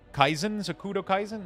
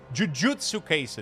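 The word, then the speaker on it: Jujutsu Kaisen: I'm just mispronouncing or miss like the wrong uh syllable. Jujutsu case.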